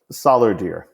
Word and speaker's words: Solardeer: Zeke's last name is Solardeer. Solardeer? Solardeer, like dollar with an S and deer like Dear Abby.